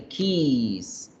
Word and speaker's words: keys: tuviéramos varias isa y keys para no confundir las con la palabra beso kiss eso se lee corto que es que es mi la palabra llaves se hace larga kiss kiss kiss diet